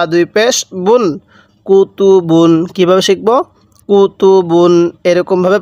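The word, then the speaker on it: كُتُبٌ: বা দুই পেশ বুন কুতুবুন কিভাবে শিখবো কুতুবুন এরকম ভাবে পড়বো স্মরণ রাখবেন এই তানভীনের উচ্চারণ বাংলায় দন্তান্য উচ্চারণ হবে অর্থাৎ শব্দের শেষে দন্তান্য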